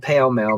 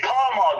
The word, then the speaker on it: Pall Mall: It's fucking pale male, Magnum. No, it's not. It's Pall Mall.